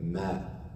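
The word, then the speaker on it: ماء: And after that, ma.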